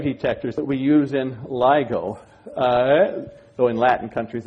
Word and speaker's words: LIGO: Here is a drawing of the kinds of gravitational wave detectors that we use in LIGO. Though in Latin countries it's pronounced LIGO for obvious reasons.